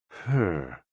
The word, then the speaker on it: he: HE, pronounced like her, with a yawn, which is associated with the heart.